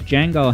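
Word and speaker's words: Django: type um EB says Jango has a line that you can quote on the top of your head and I I can name one it's um the D is silent Jango the D is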